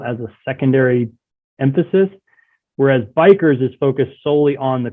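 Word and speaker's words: BiCRS: and sequestration and one depend on how you pronounce it I call it bikers biomass carbon removal and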